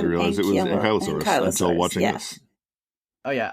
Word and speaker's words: Ankylosaurus: I always thought it was Ankylosaurus. Yeah. I did not realize it was Ankylosaurus until watching this.